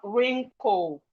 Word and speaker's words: wrinkle: We have wrinkle. Wrinkle. The W in wrinkle is silent.